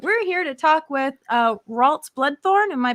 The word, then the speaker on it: Ralts Bloodthorne: We're here to talk with Ralts Bloodthorne. Am I pronouncing that correctly?